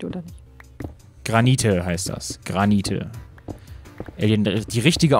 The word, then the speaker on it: Granite: Granite. Alien, die richtige Aussprache ist hier wichtig.